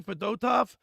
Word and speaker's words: Fedotov: But I got to tell you, Bill, Fedotov, is that how you say his name? Fedotov, yeah.